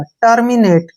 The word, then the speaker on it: terminate: अब यहां से यहां तक देखिए, NA का उच्चारण ने के रूप में करते हैं और TE का उच्चारण टे करेंगे, ठीक है ना। लास्ट में ही आया है तो उसका उच्चारण नहीं होगा। टर्मिनेट।